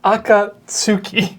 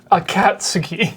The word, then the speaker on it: Akatsuki: I don't want to be a pedant, but it's Akatsuki, Yeah. not Akatsuki. Whatever. One of them means red cloud, one of them means I like a cat.